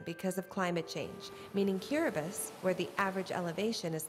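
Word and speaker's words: Kiribati: nation describing his area cubus the ti is pronounced like an S is a group of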